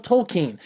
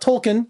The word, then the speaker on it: Tolkien: What did you think of Tolkien? That's how they say it in the film, not Tolkien. I say Tolkien.